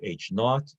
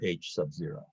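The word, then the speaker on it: H₀: with a subscript zero you can pronounce it either h naught or h sub zero examples these are examples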